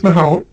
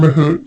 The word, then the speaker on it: Mahout: with here the first one is mahout or mahoot depends on who you talk to and how you pronounce it and this is a